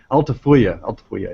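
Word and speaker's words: Altafulla: what is it called unfortunately it's not pronounced the way it's spelled so altifya yeah okay so um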